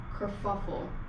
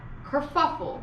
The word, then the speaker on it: kerfuffle: fffs of Ls or Co fffs of hate Kur fuffle yeah Kur fuffle really sit with it krauff now say it